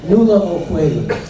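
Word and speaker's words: Nuala O'Faolain: But in response to your question, Nula O'Fwayland. N-U-A-L-A, O'Fwayland is spelled just like it sounds. O''F-A.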